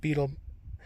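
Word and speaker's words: butyl: I use beetle tape, which is B-E-T-Y-L, so I don't know why it's pronounced beetle.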